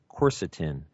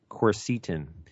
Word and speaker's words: quercetin: Well, one of them is a bioflavonoid called quercetin or quercetin. I've heard it pronounced different ways.